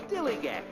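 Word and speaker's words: DILLIGAF: In a word, dillygaff. That's spelled D-I-L-L-I-G-A-F, dillygaff.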